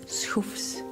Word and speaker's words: Soofs: In Dutch it is Soofs, and it comes from shafts.